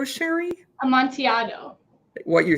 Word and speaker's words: Amontillado: And you're going to have to help me pronounce Amontillado Sherry. Amontillado.